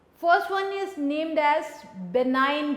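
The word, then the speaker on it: benign: वन is name details बिनाइन tumour अ ने बनाई है को बनाने में जी साइलेंट है कि अगर ट्यूमर यह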